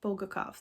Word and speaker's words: Bulgakov: by mikhail bulgakov i always say his last name wrong bolgakov there we go it's like stutter over it